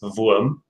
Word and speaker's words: Wurm: I also prefer to pronounce my playbook I chose in the German manner, which is Wurm, because I can.